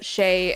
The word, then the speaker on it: xe: And in my head, the X was a Z sound. And maybe it is in some places a Z sound. But they pronounce it as like a shay and sure, and shay, sure, shares.